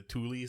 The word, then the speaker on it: Thule: Well, unfortunately, apparently, it's actually pronounced like the Thule Society.